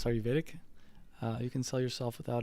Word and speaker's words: Ayurvedic: I'm going to keep saying it wrong. Ayurvedic? Ayurvedic? No, it's Ayurvedic.